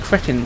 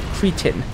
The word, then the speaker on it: cretin: Now, that's an interesting word there, because here in the UK it's pronounced cretin, but I hear Americans pronounce it cretin.